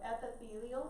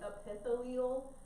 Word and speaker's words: epithelial: a little bit weird, so epithelial is how you pronounce this top one, so epithelial. I know it looks like epithelial, it's not how you say it, so don't say it like that. So epithelial, so be careful with that one.